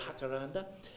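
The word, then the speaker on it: jacaranda: sky and I've got a beautiful jackaranda or as they pronounce it in the in the Spanish world hakaranda uh and at this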